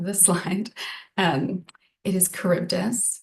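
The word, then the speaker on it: Charybdis: Um, it is Kurbdus. It's one thing to pronounce, it's another thing to spell it correctly.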